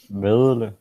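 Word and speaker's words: Vedel: Vedle. Vilde? Vedle. But it sounds like the L is before the D.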